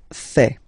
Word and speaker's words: fais: Je fais. Je fais. Remember, final S not pronounced.